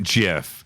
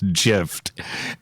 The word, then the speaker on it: GIF: are we dividing it's so gif as in God as in gay as in good graphical interface file hard G right yeah give sounds to